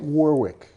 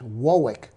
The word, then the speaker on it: Warwick: It's like Warwick, Massachusetts, and Warwick in the UK. And if you say Warwick, they laugh at you. Well, it's not quite Warwick. It's Warwick.